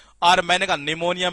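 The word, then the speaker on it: pneumonia: ये Mrs belt के अंदर कई बार पूछा गया है, क्योंकि इसमें ये साइलेंट रहता है, ये पी साइलेंट रहता है, ये निमोनिया।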